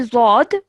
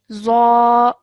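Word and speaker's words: ظاء: Okay, we don't say zod, we say za.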